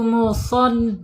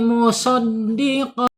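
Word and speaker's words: مصدق: Wahual haqqu musad ya musad ya di sini ada shad ya hati-hati bacanya tidak boleh musoddiq gitu ya.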